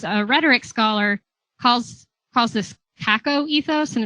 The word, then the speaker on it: kakoethos: And Janelle Johnson, who's a rhetoric scholar, calls this CACO ethos, and it's spelled KAKOETHOS.